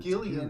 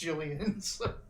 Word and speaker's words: Gillian: calls her Jillian but her mom called her Gillian her entire life like that's how she raised like her mom even admitted later on like I just didn't know it was supposed to be pronounced Jillian well it's a why a